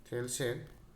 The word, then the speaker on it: Thales: Greek দার্শনিক থেলসের ইংরেজি বানানটা হচ্ছে THALES, থেলস।